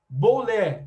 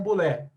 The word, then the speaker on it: Bulé: além da Eclésia havia a boué ou BOL tá depende da da da enfim a pronúncia ela é varia um pouquinho porque o grego é um pouco meio chatinho assim eu não manjo muito de grego também vamos ficar aqui com a expressão bulé tá a bulé era formada